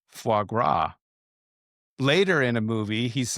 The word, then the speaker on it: foie gras: He remembered his second date with Viola when he had pronounced the S at the end of foie gras.